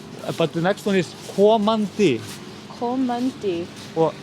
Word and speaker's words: komandi: but the next one is komandi Komandi.